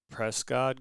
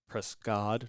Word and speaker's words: Prescod: ended up seeing um this Prescot guy prescod not cot as a subtitle F